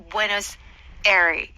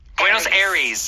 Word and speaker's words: Buenos Aires: Now, I think American people say Buenos Aires. Buenos Aires. Aires, yes. Buenos Aires. Yes, I think that's how Americans say it. That's the most stereotypical. Stereotypical. If you if you know Spanish or you maybe have Spanish culture in your background, it might be more like a Buenos Aires.